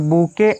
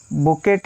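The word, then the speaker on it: bouquet: आगे देखिए, ये जो बुके ऑफ फ्लावर्स, यहाँ पर ख्याल करिए बुकेट या बकेट नहीं होता है, ये सिर्फ बुके, टी साइलेंट होता है यहाँ पर ना, इसको बुके बोला जाता है, बुके ऑफ फ्लावर्स।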